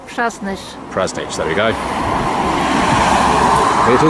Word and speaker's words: Przasnysz: It's pronounced Presnish.